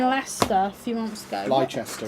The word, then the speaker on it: Leicester: Leicester, it's pronounced.